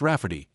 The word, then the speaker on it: Rafferty: She told my mom that spelling it Ray Farty will be obvious that it's pronounced Rafferty, but it makes it look more girly.